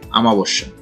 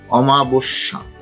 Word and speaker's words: অমাবস্যা: তারপর আছে অমাবস্যা, মানে কি এটা উচ্চারণ করে আমাবস্যা, আসলে সঠিক উচ্চারণ হচ্ছে অমাবস্যা, অমাবস্যা।